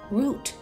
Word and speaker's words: route: some people would say root the route to grandma's house it's kind of funny but it's true that that word with the same meaning can have two ways to pronounce it so it's okay to